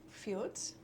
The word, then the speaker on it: fjord: Fjords?